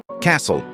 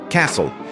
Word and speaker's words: castle: palavra Castle significa Castelo atenção para a pronúncia da palavra Castle é assim que se pronuncia Castle Castle perceba que essa palavra